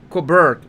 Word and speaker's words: Colbert: Colbert. Okay, silent T on Colbert.